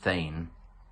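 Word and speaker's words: thegn: That marvellous Anglo-Saxon word, which might be unfamiliar to some of you, a thane, T-H-E-G-N, pronounced thane, is not only a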